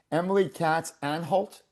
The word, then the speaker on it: Emily Katz Anhalt: Ah so great and I just want to make sure I I'm pronouncing your name correctly. Emily Catz and Halt.